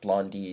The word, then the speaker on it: Blondai: i got my name blondai is how it's spelt but blondie is how it's pronounced here in canada i don't know about